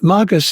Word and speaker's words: magus: And magus is, I use a Latin pronunciation of that word, magus, meaning like the magi, the magus, the magician.